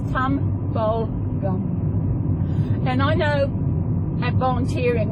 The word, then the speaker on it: Tumbulgum: And it is spelled Tumbulgum. It's Tumbulgum.